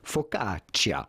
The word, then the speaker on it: focaccia: would you say it with a typical Italian pronunciation the way they would say it in Italy itself focaccia now this this ham